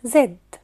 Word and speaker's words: Z: يلا ناخد مع بعض حرف الزد اسم الحرف زد زاد زاد او ممكن نقول عليه زي زي زي زي زي زي زي هو بتفرق